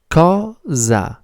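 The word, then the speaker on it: cosa: The word is ka. It's also very easy to pronounce, isn't it? Ka. C like in cool and z like in zoo.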